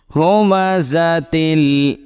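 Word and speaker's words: هُمَزَة: ওয়াইলুল্লি কুল্লি হুমাজাতিল হুমাজাতিল এই যা টা একটু জুড়ে উচ্চারণ করতে হবে যা এটা জাল না পাতলা হবে না হুমাজাতিল লুমাজাহ লুমাজাহ হুমাজাতিল লুমাজাহ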